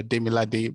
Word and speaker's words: Demilade: yeah thank you so Demi Lake uh Demi lab right or demolate okay it's pronounced it's uh it's a Nigerian name it's um Nigerian it's uh demilade but you can call